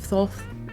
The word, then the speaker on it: Thoth: The ibis is representative of Thoth, the Egyptian god of wisdom, writing, science and judgment.